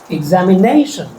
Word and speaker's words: examination: And stress the syllable before shun. Examination.